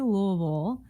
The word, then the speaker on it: Louisville: see it louisville or louisville it is definitely louisville um if you you live here yeah and